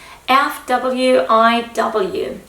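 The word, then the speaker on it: FWIW: Of course, it's not um pronounced as a full word because that's really impossible. So, you need to pronounce it letter for letter F wiw for what it's worth.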